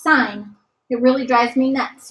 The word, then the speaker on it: sine: know that this is sine with an e I it's important that you know how to spell it it's not sin it's sign it really drives me